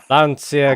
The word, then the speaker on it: lancia: Lancia granate. Yeah, this is lancia. The CI is always chi.